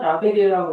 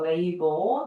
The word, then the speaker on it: label: 자, 우리나라 사람들만 라베리라고 읽어요. 원래 발음은지 어떻게 읽을까요? 그렇죠. 레이블.